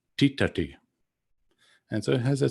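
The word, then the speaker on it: tiṭṭhati: dentals but in fact the correct pronunciation and spelling of that verb is with the retroflexed consonants and so it sounds a bit more like titati and so it has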